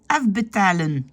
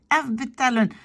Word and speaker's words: afbetalen: Il tend vraiment la bouche et les sons sont très « afbetalen ». Alors qu'un flamand va dire « afbetalen ». La lèvre inférieure, elle se laisse tomber un tout petit peu.